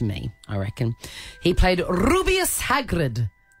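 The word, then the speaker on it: Rubeus: I reckon he played rubius Hagrid is that how you pronounce it absolutely sure is rubius with that rolling ah anyway he passed away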